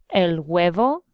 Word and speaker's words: huevo: A lot of people eat el cereal, el huevo, el huevo. And remember, whenever we're pronouncing anything with an H, we keep it silent.